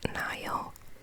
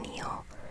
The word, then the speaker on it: Nile: I know it's pronounced Nile, but I always called it Neil.